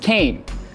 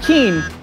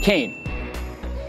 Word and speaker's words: Kean: And by the way, our university is named after the Kean family, and it's pronounced Kean, not Keen, but Kean.